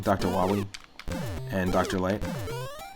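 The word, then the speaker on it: Wily: bass mega man proto man dr wylie dr wawi sorry i said it wrong dr wali and dr light it's pretty nuts the amount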